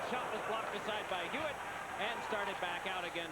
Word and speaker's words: Huet: have to call him hewitt but you know from your french class you don't pronounce the h in in french but here we're going to see the hewitt the goaltender here i